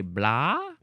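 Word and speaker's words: blaa: town in Ireland and they call it a blah. I want to look this one up. Blah roll. And I just think it's funny that it's spelled bl A.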